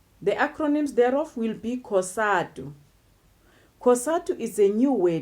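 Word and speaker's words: COSATU: African trade unions the acronyms thereof will be casado casado is a new way that is derived from the weights Congress of South African Union's but when we pronounce it whisper we pronounce it as one weight casado that goes the same to the width University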